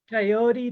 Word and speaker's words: coyote: It does rhyme with peyote. Coyote, peyote, it's kind of all related.